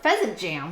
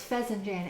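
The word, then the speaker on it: fesenjan: was really really good pheasant Jan sounds like pheasant Jam but it's not pheasant Jam it's pheasant Jan f s n j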